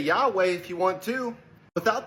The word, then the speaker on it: Yahweh: name of the Father, how do you pronounce it? Yahweh. Anybody who speaks Hebrew will say, oh, well, you're not putting the vowel points on that word.